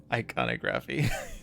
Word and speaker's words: iconography: E3 is blighted, but we just it's pronounced iconography.